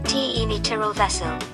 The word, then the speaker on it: Cimitirul Vesel: mary cemetery the merry cemetery romanian symmetra vessel pronounced t e miteral vessel is a cemetery in the village of sepanta